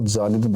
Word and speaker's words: Zahlen: इसकी स्पेलिंग लिख देता हूँ, ZAHLEN। इसको जालिन बोलते हैं, और जालिन जो शब्द